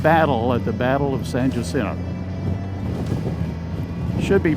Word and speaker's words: San Jacinto: in a 15-minute battle at the Battle of San Jacinto should be pronounced San Jacinto and I mentioned earlier that I worked in